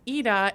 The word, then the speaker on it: Ida: Yes, and I have to mention again that it's Ida, and I was pronouncing it wrong. I was saying Ida, and you never corrected me. Well, I usually, for me, it's fine when people say Ida. I understand that the spelling of my name makes sense for being said Ida when I'm over here, but in Sweden, we pronounce it as Ida.